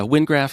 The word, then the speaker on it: Wyngraf: Yeah, that's how I pronounce it. I think probably my Anglo-Saxon professor from college would hit me with a ruler if she heard that. So sorry, Amy. But yeah, Wyngraf is how I'm saying it.